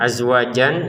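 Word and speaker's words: أزواجا: Jan yang azwajan ya tulisannya azwajan tapi kita baca azwaja kenapa? Karena kita berhenti di sini.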